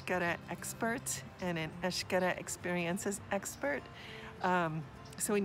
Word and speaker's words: Xcaret: an expert and an ash gotta experience as expert so when you see these parks with the X or the hotel with the X that X is pronounced ash just so you know